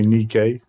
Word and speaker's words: Nike: Some people say Nike, some people say Nikkei.